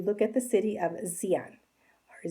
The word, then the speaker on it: Xi'an: The starting point you look at the city of Xi'an, or Xi'an. It's Xian, but that's how you pronounce it, with that kind of a Z-ish look.